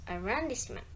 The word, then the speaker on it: arrondissement: One of the word stress is arrondissement. Explanation, it's because as a French loan word, the stress falls on the final syllable.